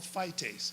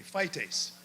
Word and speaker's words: phytase: And it's an easy, easy word to pronounce. It's called phytase. Say that with me, phytase.